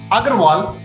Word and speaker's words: Aggarwal: last name agarwal a i mean if my parents knew how to pronounce these things properly in english they would have used u rather than a so it should have been you g r a w a l but uh a local